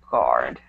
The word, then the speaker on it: guard: So when you see the word guard, you don't really pronounce the U. It's just guard.